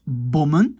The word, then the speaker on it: bommen: Je prononce bommen, toujours un O.